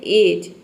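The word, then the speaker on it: edge: है किनारा ठीक है तो यहां पे देखिए डी लेटर साइलेंट है किसी भी वर्ड के वर्ड के अंत में यहां पर देख सकते हैं कि किसी भी वर्ड के अंत में अगर डी के बाद जी लेटर हो जी ई हो तो वहां पे डी लेटर साइलेंट रहता है तो देखिए यहां पे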